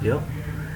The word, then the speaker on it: vieux: It's V-I-E-U-X, and the pronunciation is wir.